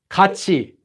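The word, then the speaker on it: 같이: So this is pronounced as kachi, even though it's written as ka-i, kachi.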